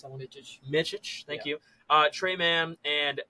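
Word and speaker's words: Micić: Jason, how do you pronounce that one? Micic.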